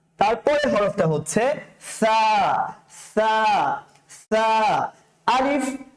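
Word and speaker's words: ث: আলিফ বা তা সা সা পাতলা করে উচ্চারণ করতে হবে সা আমার আমার অবয়কটা দেখার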